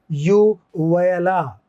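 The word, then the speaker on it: uvula: इसका उच्चारण होता है ये वाला, यूवयला। यूवयला होता है जो लटकी हुई सी संरचना।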